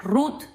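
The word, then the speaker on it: רות: Rut, en hebreo se pronuncia rut y viene de la palabra rut que significa amistad.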